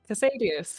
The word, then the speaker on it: Casadius: Casadius, yeah.